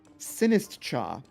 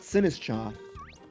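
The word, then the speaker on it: Sinistcha: I guess you could make the argument that tch makes a ch sound and you it's a silent t. So you could say poltergeist. But when the ch is such an it's so it's such an obviously like like cha means t then I I feel like I have to separate that out from the from the t that comes before.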